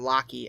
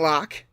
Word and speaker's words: Locke: on Vince lock and I kept calling them locky I feel like a dick because not after I watch that episode that documentary I know how it's pronounced but his name is Vince Vincent Locke from Michigan and I said that last time